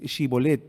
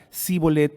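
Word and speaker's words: Shibboleth: si el que venía, en vez de decir Shibolet, decía Sibolet, porque no pronunciaba la sh, simplemente lo mataban porque quería decir que era de la tribu enemiga.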